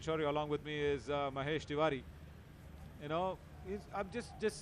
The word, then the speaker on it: Mahesh: Chennai, and all that, you won't be called as Mahesh. You would be called Magesh. Ready? Yeah, you would be called as Magesh. So we don't have a Ha pronunciation in Tamil, basically. In Kannada, we do.